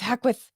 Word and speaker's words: Hackwith: pronouncing my name correctly I know when you say it sounds like a sneeze like hackwith we were like Gesundheit so you did great